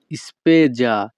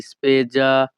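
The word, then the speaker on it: spesa: এর ইতালিয়ান ভাষা হবে স্পেজা এখানে এস এ এর উচ্চারণ হবে যা ইতালিয়ান ভাষা স্পেজা বাংলা অর্থ ব্যয় পরবর্তী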